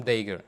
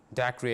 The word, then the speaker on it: Dacre: his fellow chimney sweeper tom dagger you can say you can even pronounce tom dacree as well this is proper